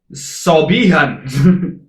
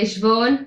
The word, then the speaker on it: Siobhan: 'Cause that looks like Sobihan. And for you to actually say Siobhan, He literally looked at that one.